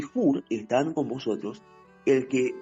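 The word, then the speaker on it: חור: la ge se nombre se pronuncia como una una una K fuerte o una J fuerte o jur jur significa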